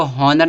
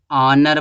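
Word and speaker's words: honour: है ऑनर में देखो इसको हनर नहीं पढ़ते हैं इसको ऑनर पढ़ते हैं ऑनर ऑनर में एच का साउंड नहीं आ रहा यानी कि एच साइलेंट है तो इसके पहले आर्टिकल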